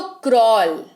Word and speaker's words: crawl: तो क्रॉल, यहां पर आपको W सुनाई देगा, A जो है वो है ही नहीं, मतलब स्पेलिंग में है पर उच्चारण में नहीं है।